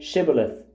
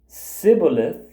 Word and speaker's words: shibboleth: no they told him please say shibboleth if he said sibilith because he could not pronounce it correctly They seized him and